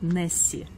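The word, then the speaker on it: Nessie: В английском же языке добывается буква Y, которая читается как И. И получилось Несс, которое название озера, и буква Y добавилась Несси.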